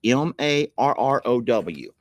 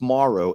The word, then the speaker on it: Morrow: Marrow. That's fine. That happens a whole lot. It's Morrow. Morrow.